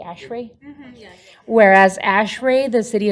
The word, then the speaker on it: ASHRAE: Whereas, am I pronouncing it correctly, ASHRAE?